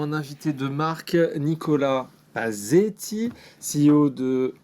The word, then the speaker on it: Pasetti: Aujourd'hui, nous avons un invité de marque, Nicolas Pazzetti, CEO de Hawk, qui signifie One of a Kind. Est-ce que j'ai bien prononcé tout ça ?